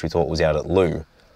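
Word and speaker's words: Lue: And then the second time was we found a new place to stay which we thought was out at Lou. Now, Lou is spelled L-U-E.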